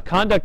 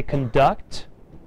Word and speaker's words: conduct: does conduct mean ah conduct is your behavior if I change the pronunciation and I say conduct what is conduct what part of speech part of speech conduct oh oh verb thank you very much